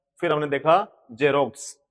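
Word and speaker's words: Xerox: जब एक्स किसी वर्ड के शुरू में आता है, जब कोई वर्ड को स्पेलिंग के शुरू में एक्स आता है, तो उसकी जो प्रोनाउंसिएशन रहती है वो जय रहती है।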